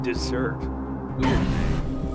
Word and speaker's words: desert: desert Rangers No and it's pronounced desert no like they're from a desert you know sand instead of snow real hot damn that sounds even better than dessert there were places